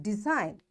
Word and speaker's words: design: So this G is silent and we'll say it design for sign a line resign a sign rain clone campaign campaign.